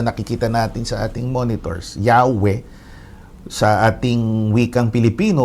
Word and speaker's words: Yahweh: inclination nila humihilig tayo sa pananaw na ang bigkas yahwe Ayan ang mas tamang paraan o wastong paraan